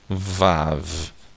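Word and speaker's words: ו: Então aqui é o som do V, aqui é o som do A, aqui é o som do V. Então pronunciando Vav, tá?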